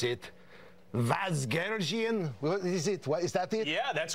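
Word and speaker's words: Vasgersian: Vazgergian? Is that it? Yeah, that's great. You got the ethnic pronunciation, everything. Vazgergian.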